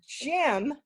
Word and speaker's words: gym: And you're going to have words like gym, J-Y-M, where you go to exercise, but the Y goes with J-I, a short I sound.